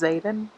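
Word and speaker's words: Xaden: I ship Violet and I think you say his name is Zayden for it's x-a-d-e-n umber season but oh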